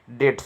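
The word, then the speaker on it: debts: डेट्स का, डेट्स माने कर्ज का। ठीक है, बी साइलेंट है।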